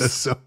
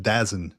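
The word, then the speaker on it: DAZN: that you mentioned I didn't know until it's pronounced theone theone oops The Zone I was like I I said I was I was I was sitting there with my kid I was like hey look up dazin and he's like dazin it's done Zone Dad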